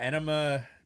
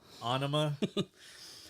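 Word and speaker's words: Ænima: But yeah, Enema, or how was it supposed to be pronounced? Anima.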